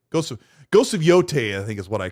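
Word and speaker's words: Yōtei: I used I looked it up when when the game came out that year and I and I pronounced it correctly for the for a while. But it's Yote. Yeah, it's Yote.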